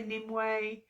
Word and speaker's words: Nimue: So I say Nimue, some people say Nimue, all different kinds of pronunciations, just like she's been